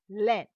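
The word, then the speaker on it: laine: So we have to use that in len len. Len means we have kept a i in l a i n e silent. So we use that as len.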